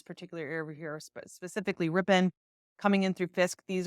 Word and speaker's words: Ripon: It is pronounced Ripon.